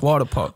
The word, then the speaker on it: Wadapawk: see it so it's it's like water it's water park water water park year my accent my accent not as strong as